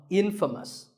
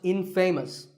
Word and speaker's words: infamous: you might just become infamous this word is the opposite of famous and it means famous for something bad but it's not pronounced in famous it's pronounced infamous alright I hope you